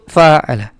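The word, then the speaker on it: فعّل: contohnya oke nah itu faala Lalu ada fa'ala jadi ada tasdidnya ya ada penekanannya ya fa'ala jadi ainnya di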